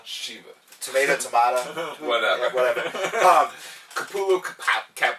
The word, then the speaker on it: Shiva: I pronounced Sheva. Shiva.